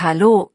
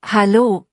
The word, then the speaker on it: Hallo: Hallo, betont man so, Hallo, nicht Hallo.